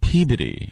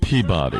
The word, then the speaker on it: Peabody: Boys, it's pronounced Peabody, not Peabody.